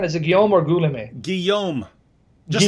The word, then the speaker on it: Guillaume: by Alfred yo Ghulam a how do you pronounce that again is a Gilmour Ghulam a Guillaume just like just like like like my friend Guillaume my French friend Gil that's the same as